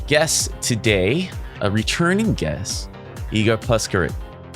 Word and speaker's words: Igor Puskaric: me, a special guest today, a returning guest, Igor Puskaric. Right? Incorrect. Almost. For the good people out there, why don't you pronounce it so that we get it right for the rest of the podcast? Igor Puskaric.